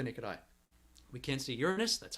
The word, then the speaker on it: Uranus: saturn with the naked eye we can't see uranus that's how you pronounce it we can't see neptune with the